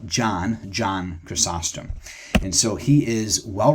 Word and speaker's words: John Chrysostom: title it is John costum and some people pronounce it chrysm some people they look at it and they think Christ storm but it's John chrysostom and that means golden mouthed and so he